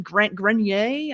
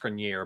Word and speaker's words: Grenier: his last name, but I think it's pronounced Grenier, but I'm not. Of course it is, because I tried to do the French fancy kind, and that's not what it is.